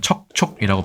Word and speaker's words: 躑躅: 아닌가 하는 생각도 듭니다 척촉이란 표현 우리나라는 척촉이라고 발음하고 중국에서는 주주라고 발음을 합니다이 정자가 좀 다르게 생겼죠네